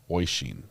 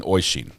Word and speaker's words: Oisin: Oyson? Is it Oyson? Can somebody spell this last name out in crayon for me so I pronounce it correctly? Is it Oyson? Spell it out phonetically. Ocean. Ocean. Oyson. It's Irish. Irish princess knows. I'm going with Ocean. Oisin. Oh. I'm not good at reading pronunciations either, as you can now see. Let me look at this one more time. Oisin. I'm going Oishin. There we go.